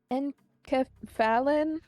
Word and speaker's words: enkephalin: It's enkephalin? Yep, that's actually how you say it.